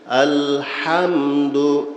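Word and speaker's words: الحمد: তারপরে পড়লে ঠিক হবে আলহামদু মুখ খোলা থাকবে হুপে জবর জবর অবস্থায় মুখ খোলা থাকে দুই টোট ফাকা রাখতে হয় জবর উচ্চারণের কায়দা কি যখন জবরওলা হরফ আসবে জবর হবে হরফ মুখটা খোলা থাকবে দুই টোট ফাকা রাখতে হবে লাগায়া থাকলে মুখ বন্ধ রাখলে জবরের সঠিক উচ্চারণ হবে না আলহামদু আলহামদু লিল্লাহি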